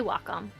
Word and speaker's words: Wacom: I've heard a lot about, I don't know how to pronounce it, like Wackom or WHcom. I say Wacom.